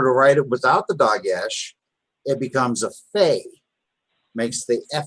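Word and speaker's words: דגש: Doggish. Dagesh, again.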